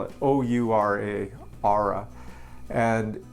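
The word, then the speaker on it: Oura: a great thing this or it's how to spell it o-u-r-a aura and it's really cool because it keeps track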